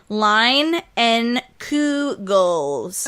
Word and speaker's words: Leinenkugel: Leinenkugel. Leinenkugel. Lying down and doing Kegels, I think is the name. No. They do have a pronunciation on here. Line and Kugels.